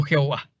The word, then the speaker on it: Jehová: Como YHWH se puede pronunciar como Yahvé o Jehová.